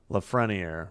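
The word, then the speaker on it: Lafrenière: Leafrenier.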